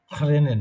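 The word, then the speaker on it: regnen: হুম, ওটা র মতন ওইভাবেই খেয়াল করেন, রেনেন, সবাই বুঝবে আপনাকে। হুম, র, ক না, তাহলে তো কেনেন হয়ে গেল। রেনেন এরকম বলে, ঠিক আছে?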